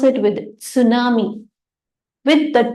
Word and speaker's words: tsunami: right we say tsunami actually in English the t is a silent we say tsunami right but it is a Japanese word whereby you will pronounce it with tsunami with the T that